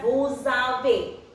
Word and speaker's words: vous avez: This is also here again S is followed by a vowel, so it will pronounce as vous avez.